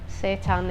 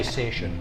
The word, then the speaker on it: seitan: It's Seitan. I don't even. Some people say sation.